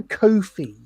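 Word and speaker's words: Ko-fi: you pronouncing that Jimmy I want to go Kofi Kofi as in Kofi Kingston nah it's okay isn't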